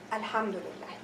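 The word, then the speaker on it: الحمد لله: little okay if I have a word before alhamdulillah so will I pronounce this let's see if I have the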